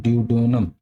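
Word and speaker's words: duodenum: में एक ऑर्गन होता है उसको बोलते हैं ड्यूडोनम ड्यूडेडनम क्या स्पेलिंग होती है तो डी यू डी ई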